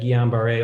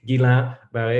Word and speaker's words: Guillain-Barré: And Mathieu, you made the excellent point that Guillain-Barré, although sorry, I said it again. I just heard this video last week. Guillain-Barré, it's hard after so many years of pronouncing it wrong. Guillain-Barré is not just a acute neuropathy.